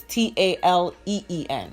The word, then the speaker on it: Talene: Oh, okay, and the first name, because you sound like it jumbled, so it's Taleen. Yeah, it's okay. 2 E's.